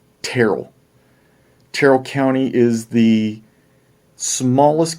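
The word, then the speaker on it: Tyrrell: wool so crustal close well no terrible not tyrell terrell terrell county is the smallest county by population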